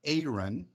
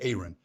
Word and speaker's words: Aaron: also tell you that my name is actually Aon it's apron with no P so it's pronounced Aon so Aaron Ford from